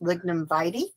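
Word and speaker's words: lignum vitae: full sun this one this funny name is pronounced lignum vite it's also called the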